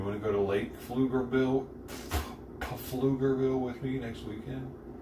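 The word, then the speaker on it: Pflugerville: Oh, Flugerville. There's an L there. I didn't see. It's spelled P F L U.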